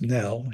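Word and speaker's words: རྣལ: And due to all the vagaries of letters and Tibetan pronunciation that ends up being pronounced nell even though it's spelled R N A L and it means actuality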